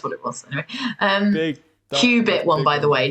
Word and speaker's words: qubit: No, Andy put Q dash bit, which is BIT.